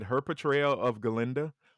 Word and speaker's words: Glinda: she's super talented, but I also said her portrayal of Glinda or Glinda because the A is silent.